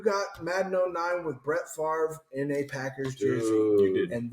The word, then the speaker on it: Favre: came out you had sports announcers going fav is that how you pronounce that is it Brett fav Ray which is weird too he had to connect correct people and go it's Favre which is hard because